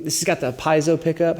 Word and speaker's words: piezo: Number 2, this has got the piezo pickup. How do you say it? Piezo? That's how I say it. Yeah, Southwest Missouri, we roll with piezo.